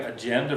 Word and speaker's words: agenda: You have words like agenda, veranda, which are also penultimate.